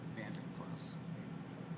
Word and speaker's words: Vandenplas: How do you say that last name? Vandenplas. It's Dutch.